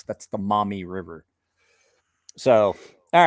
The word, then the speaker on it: Miami: a river that's named m-i-a and call it mommy because that's definitely not the miami river